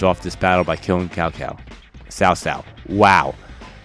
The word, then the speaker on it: Cao Cao: And now we're gonna finish off this battle by killing Cao Cao. Cao Cao. Wow. Cao Cao.